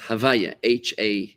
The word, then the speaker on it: Havaya: We rearrange the letters to just pronounce it as Havaya, Havah, Y-A-H, right? Havaya.